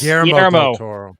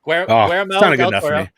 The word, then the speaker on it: Guillermo del Toro: Guillermo del Toro. Guillermo del Toro.